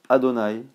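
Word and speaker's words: Adonaï: nom de qure lettres nous on le prononce adonï mais il est écrit youke et il y a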